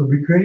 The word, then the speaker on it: Ubique: First of all, it's pronounced Ubique. It's actually a Latin word.